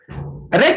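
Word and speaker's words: wreck: रेक एक चट्टान होती है जिससे मतलब शिप होता है जो टकरा जाती है, टूट जाती है, तो उसको बोलते हैं रेक। तो डब्ल्यू इसमें साइलेंट रहेगा।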